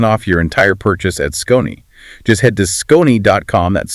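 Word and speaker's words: SKON: Yes, this discussion was also brought to you by Scon. That's S K O Ni, pronounced Scon.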